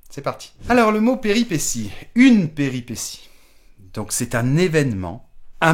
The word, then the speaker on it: péripétie: utilisé au pluriel des péripéties attention à la prononciation péripétie j'ai bien dit si même si ça prend un t I e à la fin deuxème mot attention at